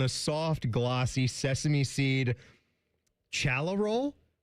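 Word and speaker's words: challah: It's all served on a soft glossy sesame seed chala roll. Hala. Hala.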